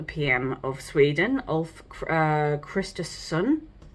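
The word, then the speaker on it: Kristersson: of Sweden Al uh Christ sun I don't think you need to pronounce both S's and also the leader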